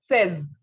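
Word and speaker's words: seize: have 16 16 is set what is it says okay says okay next is 17.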